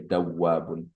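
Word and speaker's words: دوابّ: Dawabun. Should be the shadda should be on the ba.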